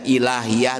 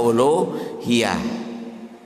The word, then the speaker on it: uluhiyah: Bisa dibacanya ilahiyah, bisa uluhiyah. Itu bagian yang keempat ya.